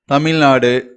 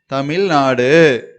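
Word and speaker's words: तमिलनाडु: தமிழ்நாடு, தமிழ்நாடு. இது வந்து நம்ம ஹிந்தியில உச்சரிக்கும் போது த, த, இது மீ, மீ. நம்ம இதை வந்து குரில் அதுல உச்சரிக்கணும். மீ, ல, மேல ஒரு புள்ளி வைக்கிறோம். தமிழ், நா, நெடில உச்சரிக்கணும். நா.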